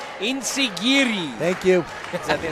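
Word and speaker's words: enzuigiri: A modified enzigiri to the back of the head, or I'm saying it wrong. Insigiri.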